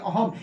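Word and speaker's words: अहम्: अहम। यहां पे जो बिंदु है उसका उच्चारण म से कहेंगे तो हो जाएगा अहम।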